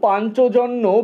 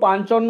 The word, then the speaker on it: পাঞ্চজন্য: দুয়ের পাঁচ দাগের বাক্য, পাঞ্চজন্য বেজে উঠেছে, বা এটাকে কেউ পাঞ্চন্ন উচ্চারণ করে।